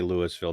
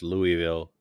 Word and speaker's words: Louisville: The Yeah, it's pronunciation, don't do not say Louisville down. It's Louisville, bro.